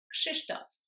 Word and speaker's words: Krzysztof: So the first one is the RZ, which is normally pronounced ż, but because it goes after the K, it's pronounced sh. So it's kind of like the sound in the name Agnieszka. It's confusing, I know, but just remember when there's KRZ, it's pronounced ksh. So you've got the k sound and then sh afterwards.